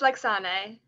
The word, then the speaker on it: Lexane: It's Lexane, but that's everyone says Lexane, but it's Lexane.